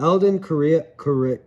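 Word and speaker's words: Alden Correia: Moving up, Alden Korea. That's how you pronounce his name.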